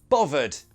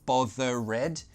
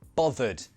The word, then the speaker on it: bothered: Then you could change that to a "v", bo-v-ered. I'm not bovered. Often I hear students pronounce this bo-ther-red, no! This is just, bothered. Two syllables, bo-thered.